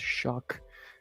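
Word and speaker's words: Shough: There was no K in his name, but it's pronounced Shuck again.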